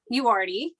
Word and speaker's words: Uriarte: Uriarte, Uriarte.